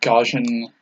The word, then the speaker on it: Gaussian: I got all oh it's gauss gaussian gaussian gotcha it's like I knew that but I didn't know it was pronounced in the same way I figured it was just spelled the same also crap it's on